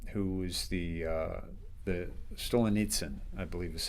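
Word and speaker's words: Solzhenitsyn: uh Stolenets um who was the uh the Stolen Nitsen I believe is how you pronounce it.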